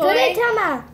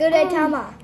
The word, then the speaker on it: Gudetama: Gudetama. I swear I'm saying it right every time. No, you're not. It's Gudetama.